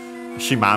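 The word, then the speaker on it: 島: Uh I've mentioned it uh no we have actually seen it also in previous series I think shima means island accented on the last syllable uh in this series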